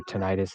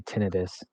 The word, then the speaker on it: tinnitus: cannon fire fun fact the medical term for tinnitus is actually tinnitus if you want to pronounce it correctly that's just a tidbit